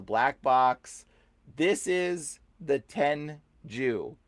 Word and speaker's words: Tengu: This is the Tenju. Okay, it's not Tengu. It's Tenju. Okay, we have been mispronouncing it. Totally wrong.